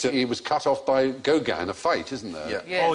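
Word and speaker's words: Gauguin: was cut off by Goan a fight isn't there oh it's not pronounced Goan got two G corn there we are I'll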